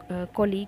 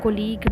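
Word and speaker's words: colleague: तो इसमें कोलीग में यू, हम कोलीगू नहीं बोल रहे हैं, कोलीग बोल रहे हैं, यू साइलेंट हो गया।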